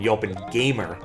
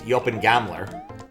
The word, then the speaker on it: Yopin Gamler: I made the unfortunate mistake once, while talking to him on Twitch, of calling him Yopin Gamer, which is not his name. He's Yopin Gamler, which, of course, means something entirely different.